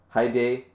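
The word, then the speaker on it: Hide: well I always saw I've seen as I said spell hiy pronounced hi day like the the day part is right the D but it's never the long e it's never the long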